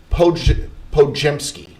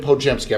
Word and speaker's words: Podziemski: Brandin Podziemski. Brandin Podziemski. I've got the phonetic pronunciation right here. Brandin Podziemski from Santa Clara, so not far from here.